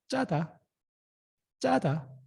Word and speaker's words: 짜다: Double consonant. You have to emphasize the pronunciation. 짜다.